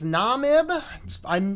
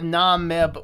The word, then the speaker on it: Namib: We are doing another live show today, and we're going to be doing the live, however you pronounce that word. I think it's Namib.